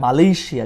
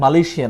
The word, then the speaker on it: Malaysia: তারপরটা হচ্ছে MALAYSIA, আমরা বলি এটাকে মালয়েশিয়া, কিন্তু মালয়েশিয়া না, এশিয়ার মতো করে এটাকে উচ্চারণ করতে হয়, বলেন মালয়েশিয়া।